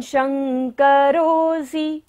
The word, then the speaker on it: शंकरोऽसि: त्वं, त्वं शंकरोऽसि, तालव्य श है, तालु से हमें उच्चारण करना है।